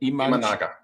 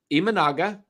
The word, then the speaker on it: Imanaga: Imanaga. I saw Imanaga. Go Shota Imanaga. Go look at his video on YouTube. So I'll take your word. Let's go get Imanaga, Blake Snell, Logan Webb.